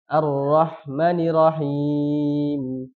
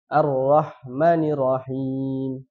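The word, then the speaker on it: الرحمن الرحيم: kita masuk ke rahim menghilangkan tasdid juga arrahmanirrahim jadi tidak dibaca tasdid yang harusnya dibacanya arrahmanirrahim tapi dia langsung arrahmanirahim ya tasdidnya dihilangkan kemudian selanjutnya sama ini menghenti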